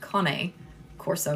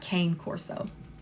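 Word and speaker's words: Cane Corso: con corso and yes it is pronounced con Corso not K Corso yep con corso and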